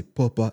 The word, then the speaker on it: Poppa: Hello, bonjour à tous, bienvenue sur le podcast Papa, à prononcer Papa et pas Popa, parce que sinon ça n'a aucun sens.